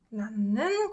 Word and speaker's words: 낳는: 아기를 낳는 과정. This 으 softens to 은 sound, right?